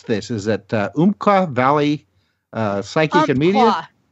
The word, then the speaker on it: Umpqua: Is it Umpqua Valley Psychic and Media? Umpqua. It sounds like the noise that my cat makes sometimes, which has got a hairball in her throat.